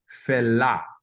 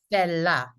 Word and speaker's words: Fela: Think of the way that an E is pronounced in French.